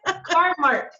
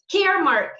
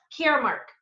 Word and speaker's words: Caremark: Carmark. Caremark. I always want to say Carmark because it's spelled C-A-R-M-A-R. Everybody says Carmark. It's funny. Yeah. Yes, but here, this is the logo, Caremark.